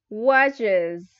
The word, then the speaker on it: watches: Next, watches. Watches con iz, watches. Okay, this is the good pronunciation. Okay, watches. No, no es watches. Es como un zumbido, z, watches.